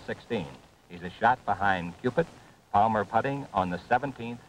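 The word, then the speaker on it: Cupit: He says if you want to remember how to say it properly, just remember Q-stick, like in pool. It's Cupid.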